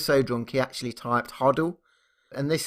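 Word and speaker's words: HODL: is real so this one's interesting this is huddle which means hold on to your coins and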